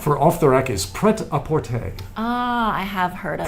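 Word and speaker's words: prêt-à-porter: For off the rack is preapporte. Ah I have heard of that. Aapporte. Uh which is very bad French pronunciation.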